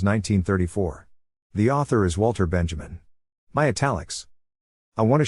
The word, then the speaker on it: Benjamin: What Benjamin, pronounced Benjamin, is telling us is that art, to be good Marxist propaganda, has to actually be good.